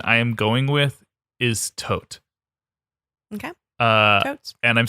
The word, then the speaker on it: Thoth: from what I've read if you go to Egypt and tour a pyramid most of the tour guides will say tote or tho there and I'm going